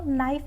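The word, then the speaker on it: knife: के के से के और एन अगर कोई वर्ड शुरू हो रहा है के और एन से तो हमारा के यहां पे साइलेंट होता है। के और एन है तो नाइफ बोलेंगे यानी चाकू।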